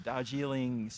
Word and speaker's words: Darjeeling: And you're watching the team from Dubai, the, let me get the pronunciation right, the Darjeeling, thank you, Darjeeling Cricket Club.